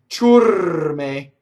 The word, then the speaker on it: ciurme: Ciurme, the R rolls because it touches the M.